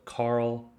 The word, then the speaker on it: Carl: example in group a has a hard c sound in other words it's pronounced just like a k like in kyle so carl kyle you hear that